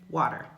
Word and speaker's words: water: pronunciation in British English, where that true T is used in words like water. In the United States, when we speak English, that word has that flap T.